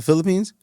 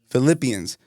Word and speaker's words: Philippians: This is from, I always mispronounce this, Philippians or Philippines? From Instagram? No, like the Bible. Oh. The Philippines? Philippians.